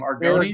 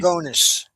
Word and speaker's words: Aragonés: Argonis? Aragonés.